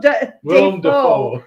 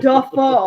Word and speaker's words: Dafoe: His name is actually pronounced Willem Dafoe. It's not Dafoe.